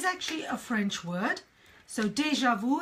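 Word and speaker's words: déjà vu: a French word so deja vu it's already been seen it's a deja vu moment now in French the French is deja view but in English we say deja vu deja vu oh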